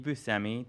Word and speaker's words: Buscemi: series he's co-stars pardon me co-starring with Steve Buscemi did I pronounce it correctly yeah yeah Steve Buscemi is playing God Daniel Radcliffe is playing one